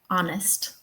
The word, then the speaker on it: honest: Well, it's very often silent like honest. Honest. So, think about the word honest. Um, the first syllable is stressed and the H is in the first syllable, but it's silent.